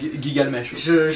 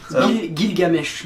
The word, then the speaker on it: Gilgamesh: Gigalmesh. J'en ai. y a- Ouais, mais c'est pas du tout comme ça qu'ils se prononcent. Gilgamesh.